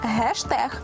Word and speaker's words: гештег: дещо ви до змінилися вони усі три лексеми в англійській прочитуються через H яка в українській переважно транслітерується як літера г саме тому доцільно вимовляти і писати гештег гайд та гейтер усі фото злочинів РФ